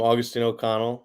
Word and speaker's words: Agustin O'Connell: alumni up first is agustan o'connell yeah there's a lot of different ways to pronounce it i'm i'm augustine o'connell i'm originally from arizona